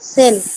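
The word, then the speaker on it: zehn: আর এটা টেন টেন কে জার্মানিতে কি বলে সেন সেন টেন কে কি বলে সেন তাহলে দেখেন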